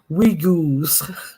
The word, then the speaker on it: Uyghurs: Okay, Uhurus is pronounced Uyghurs. We girls.